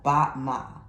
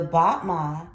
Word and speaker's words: battement: Once again, it's in French, so let's get this spelling. Battement. So it's B-A-T-T-E-M-E-N-T. Battement. You'll hear me say it enough to where you'll get the pronunciation.